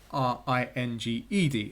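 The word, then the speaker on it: ring'd: r-i-n-g apostrophe D or r-i-n-g-e-d as we would spell it today and they would have different pronunciations so as it's written on the screen before you it's pronounced ringed if it was written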